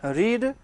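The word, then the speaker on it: read: लेकिन आप कल से बोल रहे हैं रीड, स्पेलिंग तो सेम है बट उच्चारण क्या है, अलग है। रीड, रेड, रेड, ये बहुत खतरनाक हिसाब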